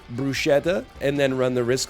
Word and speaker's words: bruschetta: want to get some bruschetta to start? Now, I'm telling you that's how we pronounced it back then. I've only recently become aware of the fact that it's called bruschetta. It's pronounced bruschetta.